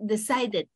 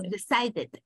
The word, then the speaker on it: decided: Y cuando terminan con sonido D o T, o sea, D o T, cualquiera de estos dos, entonces tenemos que agregar una sílaba adicional. Entonces decimos, en vez de decir decide, decimos decided, en pasado, decided. Agrega una E, D al final, pero la E suena como I.